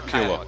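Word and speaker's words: Kiawah: Kiowa or Kiowa?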